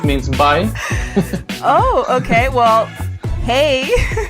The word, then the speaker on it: hej: Well, hey. Hey is yes, that's the correct way to say it.